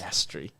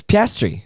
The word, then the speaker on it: Piastri: How is it pronounced? Piastri. Piastri. No, Who's Piastri? Oscar Piastri. Do you not know Oscar Piastri? Piastri. It's Piastri.